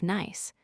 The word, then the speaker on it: Nice: we reached France, specifically the city of Nice, pronounced like the English word nice.